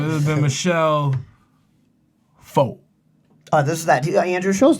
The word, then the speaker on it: pho: does this whole fucking bit about pho and foo. Like he's like, okay, can I get some pho? And the lady's like, oh, it's pronounced fa.